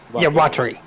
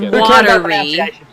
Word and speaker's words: Watari: Watari. Yeah. So, it's okay. Not watery. Not watery. Watari.